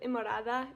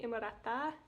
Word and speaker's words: Innamorata: I don't speak Italian, but for some reason, I want to pronounce it very Italian way. Like instead of Imorada, kind of like how you would say in Spanish, it's a T, so I would say Imorata.